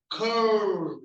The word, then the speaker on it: curl: So there's a k sound. Notice your tongue move back, right? So if you have some challenges with pronouncing your L-related sounds, notice how your tongue is moving around your mouth to make it sound. Curl. So when you say curl, the L, your tongue curls back.